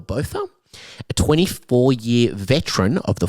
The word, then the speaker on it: Botha: The detective, which I believe is pronounced Hilton Bother or Botha, a 24year veteran of the force, thought that it was a domestic violence case that turned into murder.